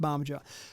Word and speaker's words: Bamaga: I think it's pronounced Barmager.